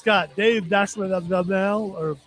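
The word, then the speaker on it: Dastmalchian: It's got Dave Dashlell, or how you say his name? Dalmatian. Dalmatian.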